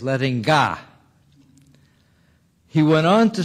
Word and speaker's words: Lettinga: pronounce his first name he said i'm frisian and in frisian we say gots ax he later told me that in frisian they say is letting god he went on to